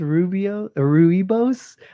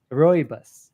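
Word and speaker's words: Rooibos: Yeah, I think it's pronounced Ruibos, but my narrator just read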